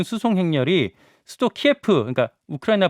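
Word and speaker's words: 키이우: 대포 등으로 구성된 기상 군 수송 행렬이 수도 키예프 으니까 우크라이나 발음을 키우라고 하는데 아스토르 향하고 있다고 합니다 예 그 행렬이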